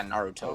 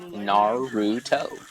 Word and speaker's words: Naruto: puts her arms back and she does like a Naruto run.